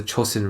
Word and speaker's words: Chosin: The Japanese pronounced the name of the lake as Chosin which was subsequently passed on to the Americans.